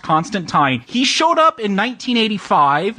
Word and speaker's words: Constantine: I know they call him Constantine, but I want to get that out of the way, or else some fan will correct us. It's actually pronounced Constantine.